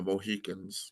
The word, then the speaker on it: Mohican: Um, James Fenimore Cooper wrote a book, Last of the Mohicans, which became a movie. Of course, you all know. But he got our name wrong. Our name is Mohican.